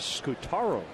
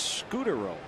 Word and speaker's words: Scutaro: when Marco came up it was Scutaro that's what it looks like but no it's scooter Justin germano has long